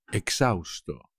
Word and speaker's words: exhausto: que no puedo más exhausto exhausto como siempre por supuesto la h no se pronuncia tras correr 420 metros